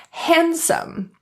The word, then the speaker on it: handsome: When you see that happen, typically the D is silent. Here are some examples of the silent D. Handsome.